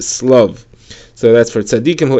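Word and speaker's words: שלו: The Gemara says that it's spelled shlav, but it is read slav.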